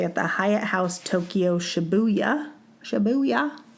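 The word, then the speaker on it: Shibuya: going to stay at the Hyatt House Tokyo shabuya shabuya sounds fun to say am I saying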